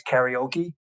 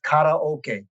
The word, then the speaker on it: karaoke: the american pronunciation is karaoke it's incorrect nobody will correct it well the asian american journalists association does now it's karaoke kara means empty like in karate you know empty hand